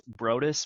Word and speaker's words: Broaddus: be here thanks for having me and it's brus but I've been called worse so I appreciate